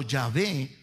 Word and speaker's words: Yahvé: Nosotros, hermano, aquí lo pronunciamos Jehová o Yahvé. Sí, en algunas personas dicen Yahvé, nosotros decimos Jehová, mi amado hermano.